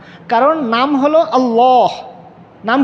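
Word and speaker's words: الله: কারণ নাম হলো আল্লাহ। নাম কি? আল্লাহ। লাম সাদ্দাযুক্ত লাম আলিফ মানে খাড়া জবর, এরপরে হায়ের মাখরাজ হলো এখানে কণ্ঠনালীর নিচের অংশ।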